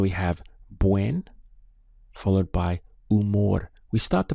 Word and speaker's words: humor: have buen followed by umore we start the pronunciation from here U because the H is silent so is I'm in